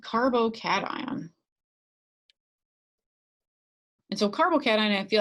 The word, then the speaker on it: carbocation: When they look at this, they see cation like vacation. That's not how you pronounce it. So just a little bit of, not nomenclature here, but the pronunciation guide is to think of it like carbo, like when you eat a lot of pasta, carbohydrates, and then cat, because who doesn't love cats?